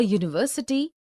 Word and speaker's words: university: a horse a hole also a university a union a european a eu a unicorn a useful article because these words university union european eu unicorn useful begin with a consonant sound similarly we see a